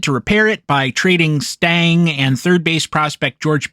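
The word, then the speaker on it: Stange: They opened the season with a rotation of Pasqual, Cot, Dick Stigman, Lee Stang, the E at the end of Stan is silent, and Jim Roland.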